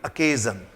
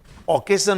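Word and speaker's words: occasion: और next sentence है, her wedding was rather A seeded family अकेजन। देखिए इसका प्रोनाउंसिएशन अकेजन है, अकेजन, ओकेजन नहीं बोलेंगे, अकेजन।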